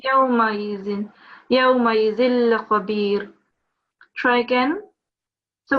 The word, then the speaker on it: يومئذ: It's not ya, it's just simply yaw. Okay. Yawmaizin.